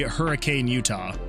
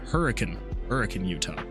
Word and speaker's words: Hurricane: Also, you gotta love how we Utahns pronounce hurricane. Anywhere else that would be Hurricane Utah, but here it's pronounced Hurricane Utah.